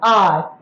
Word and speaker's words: hour: For example, I will say R, Hour. Here what is happening? H is silent.